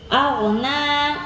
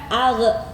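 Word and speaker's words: أغنى: Aghna, perhatikan al, bukan ag, nggak ada yang baca ag ya, karena huruf gha itu bukan dikolkolahkan, bukan dipantulkan, tapi bacanya sesuai makhrajnya saja.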